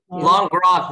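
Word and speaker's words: Langres: I love, and I'm gonna mess up the pronunciation. So is it Langras? Help me out here. Langras.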